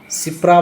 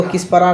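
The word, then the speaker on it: Kshipra: हैं क्या पढ़ते है सिपरा बहुत जगह लिखा रता है हा सिपरा के साइलेंट है के एस एच के एस आई एच पी आर ए इसको किस परा नहीं सिप पते ठीक है वाराणसी गंगा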